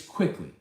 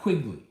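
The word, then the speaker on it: Quickley: i apologize but like it's quickly it's not quigly it's quickly um you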